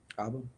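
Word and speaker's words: abba: So the Hebrew word for father is what? How do you say father? Aba. Aba. Right? So aba is how you say father in Hebrew.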